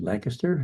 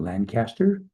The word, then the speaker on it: Lancaster: It's a relatively beautiful afternoon here in Lancaster, Pennsylvania. And yes, you may have noticed I said Lancaster, not Lancaster, because that's the way it's pronounced locally.